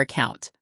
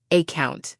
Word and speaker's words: account: The word account has the stress on the second syllable, account, not AC count.